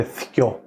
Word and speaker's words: θκιό: Ο μοναδικός αριθμός στα κυπριακά που αλλάζει και λίγο ο τόνος του ένα, αλλά είναι το δύο, γίνεται θκιό. Θκιό, ναι. Με θήτα. Θήτα κάπα, θκιό.